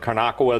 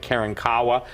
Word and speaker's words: Karankawa: And what's important that people understand is this, is that even in Texas, some people pronounce it Karnakawa, the other people pronounce it Karankawa, but the appetite of